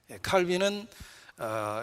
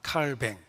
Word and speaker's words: 칼뱅: 사람이 그 유명한 칼빈입니다 칼빈은 영어식 발음이고 원래 프랑스 사람이니까 칼뱅 이렇게 알려져 있기도 합니다 자 아무튼